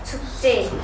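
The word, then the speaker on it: 축제: पर्व भनेर भन्छौ के यसलाई हामी उच्चारण कसरी गर्ने भयो त छुक चे भनेर यसरी उच्चारण गर्ने भयो यसलाई चा चै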